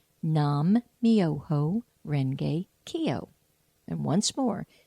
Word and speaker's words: nam-myoho-renge-kyo: it's a wonderful chant and here it is nam-myoho-renge-kyo nam-myoho-renge-kyo and once more nam-myoho-renge-kyo so here's how you spell it and I think it's the real spelling